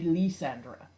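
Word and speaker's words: Lysandre: he's a fleur-de-lis if anything it should be Lee Sandra and yes I'm I don't care that's how you pronounce floor do you leave this episode just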